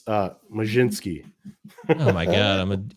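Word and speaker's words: Mlodzinski: Yeah, I guess Carmen Molodzinski. Carmen Molodzinski? It's Majinski.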